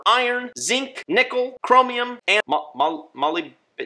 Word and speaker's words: molybdenum: That's why Component 1 contains calcium, strontium, barium, cobalt, manganese, copper, iron, zinc, nickel, chromium, and molybdenum? Molly? I think it's pronounced molybdenum. Molybdenum. That's it.